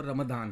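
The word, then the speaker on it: Ramadan: असल में जो ज़्यादा करेक्ट वर्ड है वो रमदान है।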